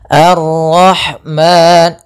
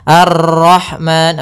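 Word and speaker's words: الرحمن: harakat kemudian nirrahim ahah hati-hati kesalahan yang sering terjadi dalam memantulkan rnya banyak misalnya Arrahman Nah ini salah untuk pantulan dalam huruf ro itu cukup sekali saja karena sifat ro ada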